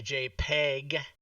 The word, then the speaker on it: JPEG: And I'll save it as a JPEG. Because even though it stands for photograph, you still say it with a hard P.